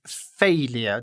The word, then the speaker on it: failure: The pronunciation is failure. The est is on the first part for UK and US both of them. But for the US we pronounce R. For the UK we don't pronounce R.